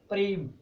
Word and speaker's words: प्रेम: इसमें पे यहाँ पर हाफ होगा और रे पूरा हो, तो ये नीचे होगा प्रेम, तो पे आधा बोला जाएगा और रे पूरा बोला जाएगा।